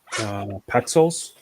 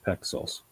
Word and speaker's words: Pexels: It's like pixels, but with an E. Pexels Okay.